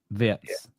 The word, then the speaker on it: Wirtz: To clarify straight from the beginning, his name is Florian Wirtz. Wirtz. Yeah. Wirtz. Lovely. Well, thank you. So we have been saying it wrong.